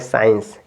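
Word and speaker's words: science: ई एन सी ई तो यहां सी साइलेंट हो गया तो आप पढ़ेंगे साइंस क्या हो गया साइंस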